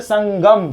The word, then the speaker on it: संगम: स के ऊपर अनुस्वार है। अनुस्वार के बाद क्या दिख रहा है? ग। और ग का पांचवा क्या होता है? अंग। इसीलिए इसको हम लोग पढ़ते तो बोलते संगम।